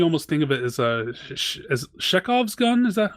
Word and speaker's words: Chekhov: There's no, like in some points you almost think of it as Chekhov's gun. Is that how it's pronounced? Yeah, Chekhov's gun.